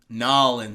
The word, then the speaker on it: New Orleans: Yo, those they call it Nolans. Oh, Nolans. Nolans, right? My bad. Am I saying it wrong? Because I say New Orleans. New Orleans, but I think down there, I think a lot of them say Nolans.